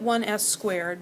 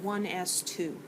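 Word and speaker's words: 1s²: And it looks like 1s squared, but we pronounce it 1s2.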